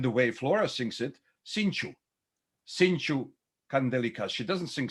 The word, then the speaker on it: cinco: she was pronouncing it the way it's pronounced in sarajevo ladino i'll give you just